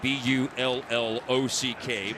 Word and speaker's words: Bullock: And Colorado State has their players pronounce their names, so he does go with the, if you're familiar with the NBA, the Reggie Bullock style pronunciation of the last name B-U-L-L-O-C-K, Bullock.